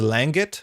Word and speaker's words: langit: enough I'll take it langit is langit without making the hard G sound between the Ang and the I Lucille thank you langit